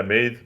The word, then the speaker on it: Meath: However you pronounce it. Yep. Yeah, Meath, you got it right.